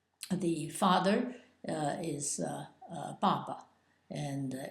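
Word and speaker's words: 爸爸: of its pronunciation and it's in the fourth tone and it's Papa B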